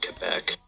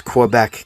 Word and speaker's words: Quebec: It's the only other majority French province outside of Quebec. So the province kinda sucks. Because Quebec kinda sucks.